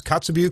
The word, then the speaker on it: Kotzebue: Did I pronounce Kotzebue correctly? Yes, Kotzebue or Tikitagruk in the traditional Inupiaq language.